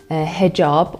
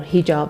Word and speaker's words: hijab: And in the case of women, the compulsory or obligatory hijab, or hijab as the Arabic pronunciation goes, and it means the overall rules about how you cover your whole body, not just hair, exacerbates the situation.